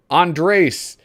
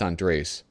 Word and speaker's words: Andres: bradford smith oh awesome andres i forgot how to pronounce his name andres i think it's not andre it's andres anyway it's like a gay